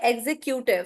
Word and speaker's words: executive: So guys, the problem or the mispronunciation that most of us commit, all Indians, is that we say executive. So most of you, or most of us rather, would stress here on executive, which is wrong. It's not executive.